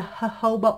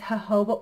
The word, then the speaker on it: jojoba: I'm gonna try it's the jojoba oil not jojoba it's not jojoba it's her hobo oil that's what I was told you that's how you say it oh yeah I'm gonna